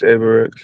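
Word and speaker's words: Avirex: Avarex. What is that? What was the uh Avir? Yeah. Really popular. Yes. I can't pronounce it. How you is it? Aarex. Yeah, it's Aarex.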